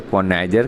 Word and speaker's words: connoisseur: है, इसको हम लोग क्या कहते हैं, तो कॉनाइजर कहते हैं। ये दोस्तों आप लोग स्पेलिंग के व्यू से भी ध्यान रखिए क्योंकि